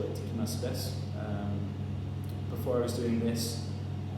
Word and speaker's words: Tiki Mas Serbes: It's pronounced Tiki Mas Serbes, Serbes being beer, Tiki Mas a little more.